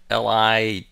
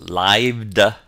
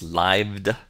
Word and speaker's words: lithe: Our seventh word, Lithe, is pronounced lived. It's not lith, it's lived.